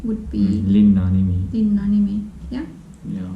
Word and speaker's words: linna: Lina, Linna.